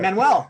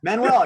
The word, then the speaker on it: Manuel: to it with that man well am I pronouncing your last name right you got it right perfect Manuel Manuel you know like Morales you know like yeah